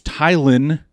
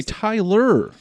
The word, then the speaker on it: Tylen: Yeah, and great pronunciation the first time. I love that. Thank you very much. And a lot of people say Tyler. Or I get Tillen a lot as well if it's in writing.